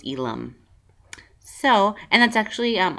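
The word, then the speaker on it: Ealom: name and I know a lot of people will pronounce it Elam because of the L M but Cherokee it's Elum so and that's actually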